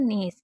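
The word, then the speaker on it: gnaw: नो, क्योंकि ए डब्ल्यू को ओ पढ़ा जाता है, तो ना पे ओ की मतलब नो, और जी हमारा साइलेंट है।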